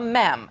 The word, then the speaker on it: mem: Yeah, it sounds gross, but I'm going to introduce you to something called a mem. Not a meme. I promise I'm saying it right.